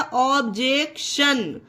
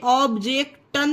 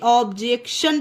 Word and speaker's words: objection: ऑब्जेक्टन नहीं लिखा है, इसे हमने शा पढ़ा है। क्यों पढ़ा है? क्योंकि TION हमारे वर्ड के लास्ट में आया है, इसलिए ऑब्जेक्शन पढ़ेंगे इसे।